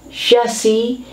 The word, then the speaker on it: chassis: person who talks nonsense chassis french influence drop the s chassis is an underlying structure